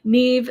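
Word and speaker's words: Niamh: is going to be my Neve sweater scarf. And it's spelt the Irish way, Niahm. There it is. Neve sweater scarf.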